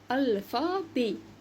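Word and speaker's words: alphabet: اول حاجه لو انا عايزه اقول حروف الفا بي الفا بي اخرها او تي انطقها اي عايزه اقول لون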